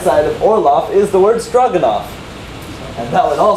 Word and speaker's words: Orlov: Orlov. Orlov. There's an or, an O-R, and an L-O-F-F. A lof, right? It's kind of like laugh, but not spelled like laugh at all.